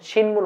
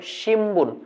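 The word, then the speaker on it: 新聞: শিনবুন শিনবুন মানে নিউজপেপার কিন্তু জাপানিজরা যখন এটাকে পড়ে তখন শিনবুন বলে না বলে শিম্বুন এখানে একটা ম উচ্চারণ করতে হয় কি উচ্চারণ করতে হয়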